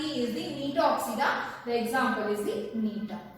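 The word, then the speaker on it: Gnetopsida: And for this Nitopsida, example is the Niton. You can see here the G is silent.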